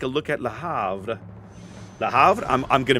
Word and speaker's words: Le Havre: That silent H always screws me in French. Yeah, like, you're going from an E sound to an A sound. My American mouth does not want to make that transition.